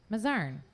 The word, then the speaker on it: Mazarn: and uh tonight is little mozaren did i say it right again mazarin i did okay i always second-guess myself